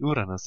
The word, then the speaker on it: Uranus: Because of course I'm way above any crude jokes, especially in my highbrow Let's Plays, so I'm gonna pronounce him the German way, Uranus it is.